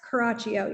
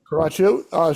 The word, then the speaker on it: Caraccio: Let me start by welcoming Caraccio. Am I pronouncing that correctly? You are. It's Caraccio. Yep. Caraccio.